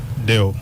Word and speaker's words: Deo: So the first name is uh Deo.